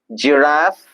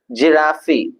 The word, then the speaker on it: giraffe: The last set of words gentle geography gestures jane giraffe genius gym garment glance glory.